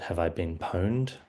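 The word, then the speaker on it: Have I Been Pwned: So, I did uh refer to uh the website called Have I Been Poned? Um which is how you pronounce it.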